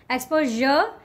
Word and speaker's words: exposure: Exposure, exposure. But j sound, it needs to be there. In British English, exposure, and in American English, exposure.